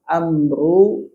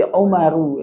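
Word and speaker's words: عمرو: Berarti dibacanya bukan antu tapi Umaru ya. Umar Umaru. Apa bedanya Umar dengan Amr? Amrun dengan Umar. Ada wunnya. Hah? Ada wunnya. Kapan ada wau? Amr. Amr ada wau.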